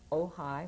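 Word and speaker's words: Ojai: with you um post office box 16 62 oh high which is spelled OJ AI California which is where I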